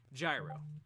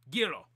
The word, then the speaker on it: Gyro: was always like these these stupid Americans they don't know how to pronounce Giro they always call me gyro I don't understand I